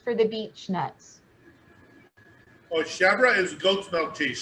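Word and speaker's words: chèvre: Chevre is how you say it in French. I think it sounds better as chevre, but it's chevre in French. That's just the French pronunciation. But it's goat's milk cheese pronounced in French.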